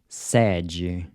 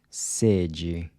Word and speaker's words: sede: So the closed E is pronounced E, kind of like the A in say, except you cut it short. E, as in sede, thirst.